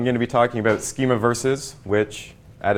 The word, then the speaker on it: Schemaverse: so what is a schema verse a lot of people do have trouble pronouncing it it is just to play on a schema and universe schema verse it's your classic space